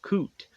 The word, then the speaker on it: Coot: also speak with Father coot if he's even pronouncing that correctly the clan is to admit yeah that is how to pronounce it correctly and so Howard's like